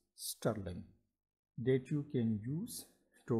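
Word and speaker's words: strlen: special predefined function named s-t-r-l-e-n pronounce sterling that you can use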